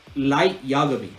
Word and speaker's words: Light Yagami: light yarmouth why can't i say his name light yagami there you go light yoga me there you